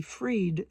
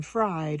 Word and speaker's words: Fried: Since my last name is spelled fried, and I'd rather be freed than fried, and you would too, I usually go more